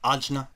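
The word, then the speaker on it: आज्ञा: the third eye chakra which in Sanskrit is pronounced ajna which means command the color of this chakra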